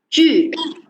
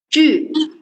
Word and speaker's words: 句: first letter at here, 句, it's a U pronunciation match with initial 句. Very good. Right now it's easy for you, right? So circle your lips.